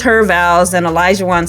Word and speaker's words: Olajuwon: So they walk off, and Katina is asked how to pronounce his name, and she's like, Olajuwon.